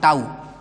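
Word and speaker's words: tau: है, इसको दिखाते हैं टाउ से, टाउ, इंग्लिश में कहीं कहीं किसी किसी बुक में टो भी बोलते हैं, तो टो ही सही इसका प्रोनाउंसिएशन है, लेकिन कई सारे जगह पे टाउ बोलते हैं, ठीक है।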